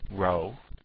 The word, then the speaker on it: rho: that row that is row looks like a p but it's really the Greek letter for R and it's spelled rho o but and pronounced row even though it looks like a p but what it really